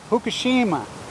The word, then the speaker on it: Fukushima: I've been told as my brother lived in Fukushima for years he was a model there and his wife told me the other day they pronounce it hukushima Hab you Hab try spinning